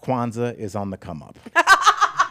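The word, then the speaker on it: Kwanzaa: quaza oh my God it's not quaza I said Quanza yeah he said it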